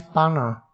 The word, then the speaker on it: paana: Pa means pana. You have to pronounce like this, P A A N A Paana means get, you are getting something.